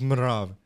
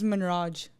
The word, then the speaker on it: Manrav: For me, like my name is like, people never know how to pronounce it. It's Manrav. Manrav, yeah? Yeah. People always think it's Manraj.